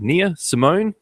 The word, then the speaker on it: Nia Simone: I'm going to try and pronounce this correctly. Is it Nia Simone on?